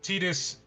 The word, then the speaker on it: Tidus: There is a weird thing of when Japanese companies ask English studios to pronounce things in certain ways, they do it by syllables, even though when it's not pronounced that way. Regardless, it doesn't matter. It's Tetus. Uh I believe the card name is Tetus Yuna's Guardian. Yep. Yes. I think Ty sounds better, but trying to grab